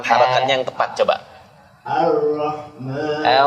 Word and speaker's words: الرحمن: Ar-Rahman. Buka mulutnya yang benar, pengucapan Ar-Rahmanirrahim. Nirrahim. Ulang lagi. Ar-Rahmanirrahim. Ar-Rahmanirrahim. Enggak. Coba ucap a dulu. A bukan o.